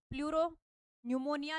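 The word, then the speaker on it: pleuropneumonia: है प्लूरो निमोनिया देखो प्लूरो निमोनिया निमोनिया का जो नाम है ना वो पी से स्टार्ट होता है इसमें पी साइलेंट रहता है इसलिए प्लूरोन निमोनिया लाइक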